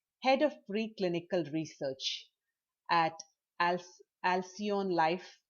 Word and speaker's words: Alcyon: of preclinical research at Alcyon Life. Am I saying it right? Mhm. Is it Alcyon? Yeah, Alcyon license.